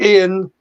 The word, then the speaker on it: Ian: It's certainly Ian. It can be spelt differently. Some people spell it I-A-N as I do, but it can be spelled I-A-I-N.